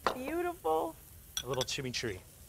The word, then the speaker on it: chimichurri: a little chimichurri. You got a little chimichurro. Is that how you say it? Chimichurri. Chimichurri.